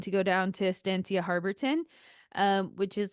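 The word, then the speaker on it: Harberton: And so I booked a trip with them, and they take you by bus to this place, like Harborton Ranch is how you say it in English, Estancia Harborton.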